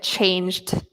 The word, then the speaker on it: changed: Okay, whereas failed, we don't pronounce the E. And the same with changed.